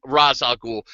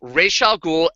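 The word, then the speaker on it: Ra's al Ghul: on the current media call him razal ghoul no it's Ral ghoul and watch the original Batman animated series they pronounced it correctly re I did I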